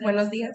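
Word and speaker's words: buenos días: Is this how we pronounce it? That is correct. Buenos dias.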